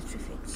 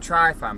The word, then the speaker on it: Tryfan: Tryfan. Hello, welcome back to Angie and Scott's WILDCAMP. What are we doing today, Angie? We're going to Tryfan, planet of the Tryfans. Keep saying Tryfan, but it's pronounced Tryfan, isn't it?